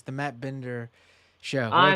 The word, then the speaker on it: Matt Binder: Wait, sorry, is this the Mark Binder show? No, it's not the Mark Binder show. I'm sorry. It's the Matt Binder show.